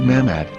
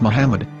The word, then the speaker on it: Muhammad: yehuda's Hebrew English dictionary it is correctly pronounced as Muhammad not mammad so how we're going to know for sure if it's pronounced as Muhammad the Muslim Prophet or